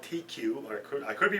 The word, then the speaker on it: Teku: The glasses are called TQ, or I could be pronouncing wrong.